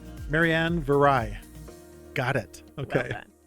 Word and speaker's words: Viray: to just practice her last name, Mary Ann Viray. Got it. Okay. It's spelled B I R A Y.